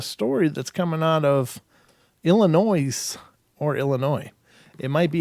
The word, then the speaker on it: Illinois: just how it's spelled but Illinois I don't know why they bother with the S just saying it could